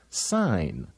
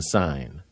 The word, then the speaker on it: sign: craw look at this the G is silent inside the word sign you may sign on the dotted line but you won't hear the G in sign isn't learning to read